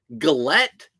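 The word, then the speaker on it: gilet: I don't know if Gillette. Gillette is spelled differently, but G-I-L-E-T.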